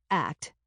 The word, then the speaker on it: ACT: Steve Hayes, in his Acceptance and Commitment Therapy, ACT, which is pronounced like the word act, not like the individual letters ACT, has developed a number of exercises to help us clarify our values.